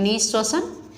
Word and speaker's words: निःश्वसन: है, हिंदी वर्ड है, यहाँ पर देखिए विसर्ग लगा हुआ है, यहाँ पर विसर्ग नहीं है, बाकी इसमें सेम लग रही है, लेकिन उच्चारण इसको किस तरह से करेंगे, इसको बोलेंगे निःश्वसन। निःश्वसन मतलब कि सांस को अंदर लेने की प्रक्रिया।